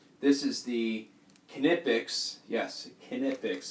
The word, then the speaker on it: Knipex: Yes, Knipex. That is the German pronunciation of it.